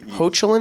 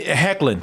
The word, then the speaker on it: Hoechlin: Hochelin is how. Well, it's spelled that way, but usually when it's like a O-E-N something, it can be pronounced like a Hain.